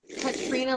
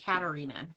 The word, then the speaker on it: Katrina: Okay, first and foremost, it's Katrina like the hurricane, not Katarina.